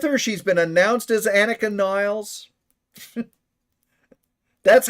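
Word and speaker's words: Anika Nilles: She's been announced as Annika Niles.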